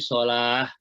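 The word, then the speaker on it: الصلاة: Tapi dibacanya bukan salat tapi salah.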